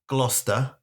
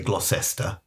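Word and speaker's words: Gloucester: Wister Glouester. Sirencester. So all the others say stir. So they don't say Glossester because it's not Glossester.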